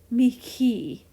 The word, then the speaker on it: mihi: And there's another Latin word, mihi, and it's the same. Instead of an H, it's like mihi.